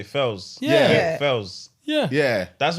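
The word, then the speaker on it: Pheelz: fouls the bad guy sounds like I p h i l L's so it's spelled p-h-e-e-l-z yeah what did I say Fells yeah yeah yeah that's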